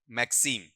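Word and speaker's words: maxim: इसका उच्चारण मैगज़िम मत कर देना। मैक्सिमम मैक्सिमम से साउंड।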